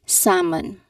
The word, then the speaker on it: salmon: Just remember that there is a silent L sound that will make you um that will make you trip. Right? So um again this is not um pronounced as salmon. There is no pronunciation of letter L sound here which is a common mistake of some people. This is um there is a silent L sound. So the L sound is silenced. So it should be salmon.